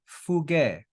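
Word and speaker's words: φυγή: Then we've got he fuge. He fuge. We've got phi, upsilon, gamma, and eta with an accent on the last syllable.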